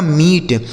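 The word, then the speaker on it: meet: हो गया दोस्तों म, इस डबल ई का उच्चारण बड़ी ई की मात्रा और टी से हो गया ट, यह लिखा गया आपका मीट, M double E टी मीट, ठीक है।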